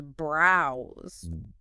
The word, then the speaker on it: browse: tackle the word browse browse is pronounced with that long ow sound like in the word cow right and the S